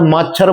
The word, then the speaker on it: माछर: आज मैं माथुर इसको किसी जगह मात्र बोला जाता है। किसी जगह मच्छर बोला जाता है।